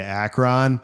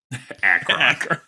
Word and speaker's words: Akron: heading into Akron?" But anyway, yeah. Akron. Is that also wrong? Akron. It's the wrong emphasis on the wrong syllable, dude.